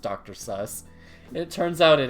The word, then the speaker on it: Seuss: and uh the E the U and E with the SS that actually is pronounced suss in German so it's actually funny